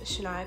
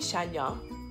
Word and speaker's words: Shaniya: from my Rae but for mobile so you pronounce my full name as a Shania in love and you are it's pretty simple pretty easy a lot of people call me Sonya shaniyah if they're gonna mixed up my life